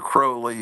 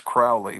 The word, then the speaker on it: Crowley: that thinks uh Alister Crowley is all you which I always pronounce Crowley but these people into him say Crowley so I guess I guess they know how to pronounce his name but uh man what